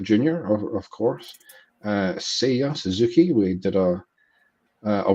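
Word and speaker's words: Seiya: uh bobby whitt jr or of course uh say ya suzuki we did a a workshop on how to pronounce his name correctly right before the start of the show uh so sia suzuki the japanese free agent who signed with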